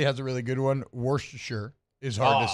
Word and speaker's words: Worcestershire: Worcestershire is hard to say. I'm just not saying that word. Just don't say Shire. If you say sure, it makes it easier. Worcestershire.